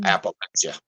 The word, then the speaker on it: Appalachia: It's a Native American term, and it's pronounced Appalachia.